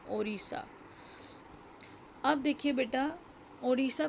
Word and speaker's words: Odisha: तो ये अब ओडिशा प्रेफर किया जाता है क्योंकि उसको अब ओडिशा प्रोनाउंस किया जाता है. स्पेलिंग है ODISHA.